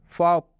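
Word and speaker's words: fork: जैसे फॉक, फॉक का मतलब होता है कांटा। आप इसमें भी देख सकते हैं ये जो आर है इसका उच्चारण बिल्कुल नहीं किया जा रहा है, क्योंकि ये दोनों वर्ड क्या है?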